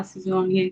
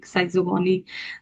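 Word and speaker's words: schizogony: अब ये कहाँ से आ गया सिजोगोनी, साइजोगोनी।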